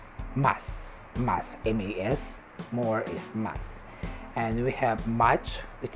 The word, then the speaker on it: mas: more more is mass mass m-a-s more is mass and we have much which is mucho mucho